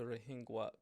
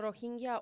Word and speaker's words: Rohingya: So, Sonia, let's tell our listeners and viewers who are the Rohingya people. So Rohingya or Rohingya, there are different Rohingya.